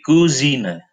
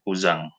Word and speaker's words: Cousin: Kalau sepupu perempuan kita bilangnya di Cousine. Cousine. Jadi COU dibacanya ku. Di Cousine, kalau yang laki-laki adalah der Kuzang ya. Der Kuzang, bukan cousin ya, Kuzang.